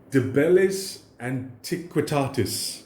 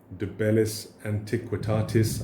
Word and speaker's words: De Bellis Antiquitatis: De Bellis Antiquitatis, I think is the way you're supposed to pronounce it.